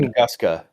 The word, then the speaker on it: Tunguska: The Tunguska? How do you say that word? Tunguska.